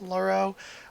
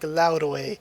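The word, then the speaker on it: Lauroe: sort of laroe spellinger i see a lot of people pronounce it lauro but if we're getting into the real like um i don't know what's the word i'm looking for the real phonetics of the way his name should be pronounced in the korean it's more like laurae or laurae so again laurae without the o is fine or that it shouldn't really be laro it should be laure or laura and it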